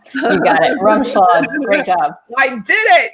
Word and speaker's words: Rumschlag: She is Ashley, and I don't want to get this last name wrong. Rumschlag. You got it. Rumschlag.